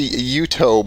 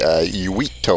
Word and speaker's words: Uitto: I say Uitto, but I think Uitto? yeah, it's Finnish, so it would be Uitto or Uitto.